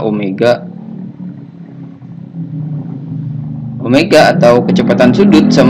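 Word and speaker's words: ω: cari kecepatan sudut atau disimbolkan dengan W ini bacanya Omega Omega atau kecepatan sudut = 2P f2v kali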